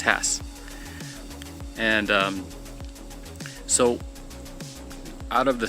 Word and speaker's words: Hass: I keep on saying Hass, but it should be Hass. It's pronounced Hass.